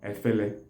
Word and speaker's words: efele: Then in some parts of Anambra State, efere is pronounced or is called afele or efele. Afele is spelled as A-F-E-L-E.